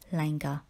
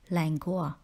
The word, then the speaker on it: languor: lethargic is an adjective word number six is Langer the word Langer is the synonym for word